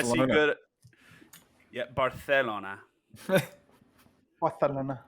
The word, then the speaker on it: Barcelona: Barcelona. That's how it's pronounced.